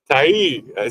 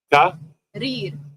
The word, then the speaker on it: Tahrir: Tahrir. Say it again. Yeah. Say it one more time. Tahrir.